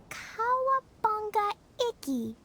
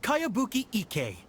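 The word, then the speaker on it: Kayabuki Ikku: By Kawabunga Iki. Yoimiya, this is a really strange name. Who's this Kawabunga? It's pronounced Kayabuki Ike.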